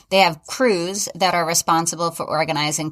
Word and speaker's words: Krewes: So crew members, and I'm going to talk a lot about crews, and it's spelled Krewes, parade crew members, and I'll get into that a lot.